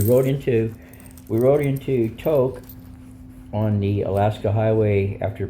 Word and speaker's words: Tok: a campground in the small town of Tok toke is spelled t-o-k you'll and it's pronounce toke um you'll hear me talk about toke a fair amount you'll also hear me talk